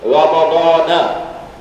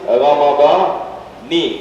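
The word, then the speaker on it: رمضانِ: They say Ramadana. Then hadhihi sanati. The right one is Ramadani, not na. And you just take note. Just take note, huh? And the correct pronunciation in the Arabic is Ramadani, and in this particular intention.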